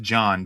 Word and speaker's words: Jan: It's pronounced John, but it's it's spelled Jan.